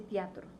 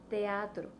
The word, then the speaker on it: teatro: estas vocales no Entonces si hay dos vocales fuertes abiertas juntas nos obligan a separar su sonido por ejemplo teatro no se dice teatro es teatro al momento que tú